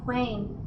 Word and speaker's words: Quain: variation in the pronunciation one might read quain as the Portuguese for who take note quain quim a writer who is